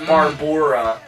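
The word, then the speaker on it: Barboura: have Barbara Morris and her name is spelled b a r b o u r a so that's barbora Barbor Morris as Carla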